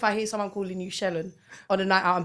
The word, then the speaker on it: Shelen: Shelen. Yeah, some people say Shelen. It's Shelen. Shelen sounds like Sharon. It does. I'm so sorry. Shelen. If I would no. Now if I hear someone calling you Shelen on a night out, I'm beefing them.